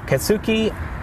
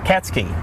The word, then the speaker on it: Katsky: Um and some other folks that we talked to uh Dave Kasuki and that's not how you say his name though. Katsky, right? Dave Katsky and his spouse uh Nancy Elkins.